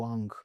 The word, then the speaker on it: Ng: एक प्रोफेसर हैं एंड्रू आंक लोग नॉर्मली उनको जब लिखते हैं तो एंड्र्यू एन जी लिखते हैं। करेक्ट प्रोनाउंसिएशन इज एंड्रू आंग। ठीक है? That's how they pronounce.